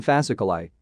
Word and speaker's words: fasciculi: I at the end of a word usually denotes a plural and is pronounced I, as in fasciculi.